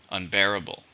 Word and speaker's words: unbearable: adjective how many syllables are in unbearable for stress in a second unbearable I can't deal with